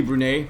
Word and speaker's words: Brunei: It's actually Brunei.